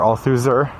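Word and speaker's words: Althusser: so i'll tuesday or all suzer it looks like a loser but i think you don't pronounce the are talked about the way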